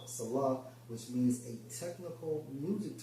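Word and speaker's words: Selah: Now, when you go into that term Salah, because you see that term in Psalms a lot, in Strong's H5542 pronounced as Salah, which means a technical music term, probably showing pause and interruption.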